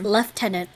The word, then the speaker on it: lieutenant: they're like British so the way they pronounce Lieutenant is left tenant yes why that's that's